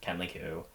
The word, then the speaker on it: Kenley Ku: like confused as to why people spell my name wrong it's not the heart anyways k-e-n-l-e-y-k-u Kenly Q and then you can always follow my Instagram